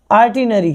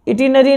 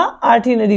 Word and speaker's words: itinerary: इसकी सही प्रोनाउंसिएशन पता है क्या है? आर्टिनरी। क्या है? आर्टिनरी। इटिनरी नहीं बोलना, आर्टिनरी होता है, ठीक है।